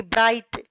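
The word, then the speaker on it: bright: आपको पढ़ना है कि ब्राइट साइट। आपने देखा कि हियर यहां जीएस इज साइलेंट। कि यहां देखो दोनों शब्दों में जो जी एच जो लेटर्स हैं वो साइलेंट है। उनकी आवाज नहीं आ रही।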